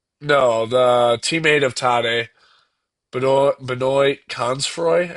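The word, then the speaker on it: Benoît Cosnefroy: Consfroy, no, the teammate of Tade, Benoit Consfroy, I believe is how you say it.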